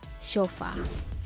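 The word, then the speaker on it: Chopard: CH is pronounced and D at the end is silent which signifies that we say shofar number 10 Christian Dior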